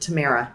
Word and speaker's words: Tamera: see your name perfectly so it's it's hebrew okay and so it's t-a-m-e-r-a okay and depending on where you're from you might pronounce it different ways i grew up in the midwest in the u.s so i have a weird kind of twist to it but tamara right okay we're going to